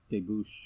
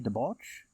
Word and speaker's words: debouch: I perceive that the ghastly glimmer is noonday sunbeams reflected, and debouche... Am I pronouncing that right? How do you pronounce that? Debouche. Should that be debauch? No, it's not debauch. Like in debauchery?